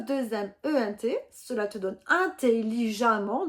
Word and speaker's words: intelligemment: et cela te donne intelligemment donc tu as écrit e de T mais tu prononces bien a 2m NT attention donc à la